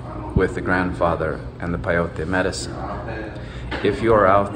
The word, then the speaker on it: peyote: And he keeps saying piotr. Peyote. It's pronounced peyote. Mm-hmm. Like peyote. Like in the word pendejo.